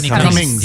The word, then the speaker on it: Whitney Cummings: Whitney Cummings.